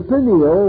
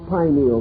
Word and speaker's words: pineal: years have passed uh the pineal or pineal gland either pronunciation is correct located in the central